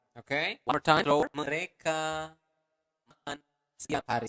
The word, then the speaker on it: mereka: So, mereka makan setiap hari. Okay? One more time, slower. Mereka makan setiap hari. So, going to pronounce the letter R clearly. Mereka. Not mereka, but mereka makan setiap hari.